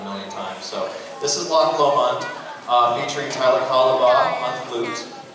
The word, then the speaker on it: Loch Lomond: This is Loch Lomond, which is the correct way to say it. Everyone corrected me in band, and I actually had to go and look it up myself. I'm from Pennsylvania, so it's Lomond.